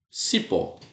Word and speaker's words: cipó: Por exemplo, a palavra cipó, aqui, ó, cipó. Eu sei que cipó é oxítona, né? Cipó, aqui, ó, oxítona. Tá aqui, ó. É oxítona. Por quê? Porque a sílaba forte é a última.